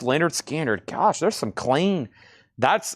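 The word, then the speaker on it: Lynyrd Skynyrd: Also, we got pronounced Leonard Skinner.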